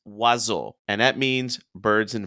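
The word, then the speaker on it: oiseaux: it and you want to say O It's pronounced wazo and that means birds in French you have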